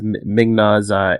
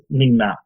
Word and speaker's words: Ming-Na: says he has Migna's agent. He knows he has the email for Migna's agent. Who's Migna? Agent May. Oh, okay, yeah, okay. No, I usually pronounce the I in that. Yes, Ming-Na, yes.